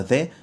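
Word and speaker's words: the: اللي بتيجي قدام الاسماء كلمه ذا انطقها لو جه بعديها اي كلمه بادئه بحرف ساكن يعني زي كلمه طيب كلمه ذا امتى تتنطق زي لو جه وراها اي كلمه بدا بحرف متحرك زي مثلا كلمه اقول عليها زائد ولا في الافضل قول ذي اج عندنا كلمه انترنت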